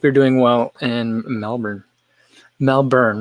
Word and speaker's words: Melbourne: Melbourne, right? I always want to pronounce all the vowels that are in there. I want to say Melbourne, but I don't think that's how people from there say that.